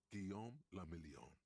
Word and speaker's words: Guillaume la Million: Guillaume la Million. If it doesn't rhyme, you're not pronouncing it right.